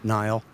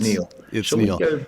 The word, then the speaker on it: Niall: right about that one Nile should we uh it's pronounced Neil back what the question